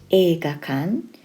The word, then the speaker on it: 映画館: kanji for cinema in this video tutorial it's pronounced e gakan and it means literally film building erga is